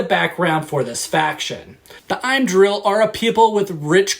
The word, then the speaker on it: Im'dril: It's I'm like him without the H, and then drill like the hand drill. I'm drill.